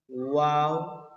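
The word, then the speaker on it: واو: very nice এই ওয়াও টাও same সেই ইংরেজি উচ্চারণের মতই ওয়াও ওয়াও ওয়াও Hamza Hamza Hamza Hamza ইয়া ইয়া ইয়া ওয়াও হামজা ইয়া দেখেন হামজা আমরা যে যা পড়েছিলাম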